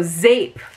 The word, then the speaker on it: zeep: wondering what is zeep zeep is dutch for soap it's pronounced not how i said it z-a-p rhymes with cape so zape even though it's spelled z-e-e-p so it says the